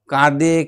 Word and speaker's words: কাঁদে: কাঁদে কিউ কিও দেখো কাঁদে কিউ কিও সব বানানে কিন্তু চন্দ্রবিন্দু আছে নাক দিয়ে উচ্চারণ হবে খিদে পায় খুকি শুয়ে